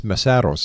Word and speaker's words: Mesaros: Now I think I pronounced your family name wrong. It's Marossos, am I right?